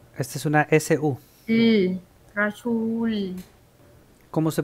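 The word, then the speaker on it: رسول: car Okay es r Esta es una su rasul Cómo se pronuncia s u su Ahí está rasul rasul muy bien rasul ahí se escucha muy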